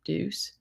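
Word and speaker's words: Dusse: And then we have Jay-Z with Ace of Spades Champagne / sorry, I don't think I'm going to pronounce this right. Deuce, D-U-S-S-E, Deuce.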